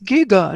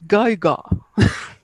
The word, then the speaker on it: Giger: Eso me recuerda al creador de Alien, porque había un audio que decía, era un niño que decía, it's Giga, not Geiger.